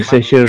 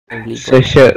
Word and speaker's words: Saoirse: Saoirse Una Ronan. It's so Irish name. If you guys Google about Irish name, it's so weird with how you actually think it's pronounced, but it's pronounced very differently. Saoirse Ronan.